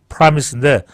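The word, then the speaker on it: promise: 한국으로까지 안전하게 수정시키는 이른바 프로미스 약속이죠 프로미스 물론 영어 발음은 promis입니다 프라미스인데 프로미스이 프로미스 작전을 비행기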